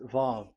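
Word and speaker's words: ו: VAV. So it's V as in Vogue. So it's really V. How to read Vogue? So the word, the shape Vav is really pronounced V, like Vogue.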